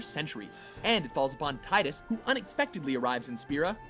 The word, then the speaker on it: Tidus: the world for centuries and it falls upon Titus who unexpectedly arrives in spir to guide Yuna on her pilgrimage to defeat sin it's actually pronounced Titus featuring an unforgettable cast of characters and possibly